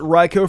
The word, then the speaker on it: Raikou: I pronounced it Raikou for the longest time, and just now I realized it was actually pronounced Raikou.